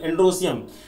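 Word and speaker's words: androecium: सी आई यू एम एंड्रो सियम ठीक कई बार UP board में हम लोगों को स्पेलिंग की बड़ी दिक्कत होती है तो इसको एंड्रो इियम एंड्रो सियम बोलते हैं बट एंड्रो सियम लिखने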